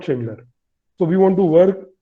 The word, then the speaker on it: Schindler: They don't call us Schindler. They call us Schneider. They call us Sachindler. So we recently ran a campaign on LinkedIn just to pronounce Schindler perfectly.